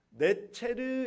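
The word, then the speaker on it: נֵצֶר: 그런데 히브리어로 가지를 네체르 이렇게 발음해요. 그래 네체르라는 이 발음과 나지르라는 발음이 같아요.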